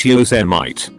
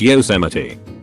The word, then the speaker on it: Yosemite: one of his kiwi co-workers tells them it's pronounced Jose might they're like no it's Yosemite she wouldn't believe them everything I am a